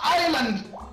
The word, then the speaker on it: Island: though that's what it's called right no it's Island but it's an s in there why you don't TR to pronounce the S cuz it's